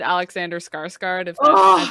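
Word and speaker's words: Alexander Skarsgård: nothing just like twilight yeah true blood had alexander skarsgard that's how you say his name anyway it's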